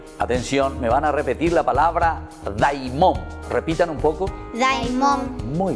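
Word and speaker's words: δαίμων: Y me van a repetir, atención, me van a repetir la palabra daimón. Repitan un poco. Daimón. Muy bien, esa palabra daimón, queridos chicos, significa justamente la fuerza interior, lo que sale de adentro, lo que sale del corazón.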